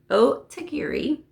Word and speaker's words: Otagiri: I said it right. Otagiri mug.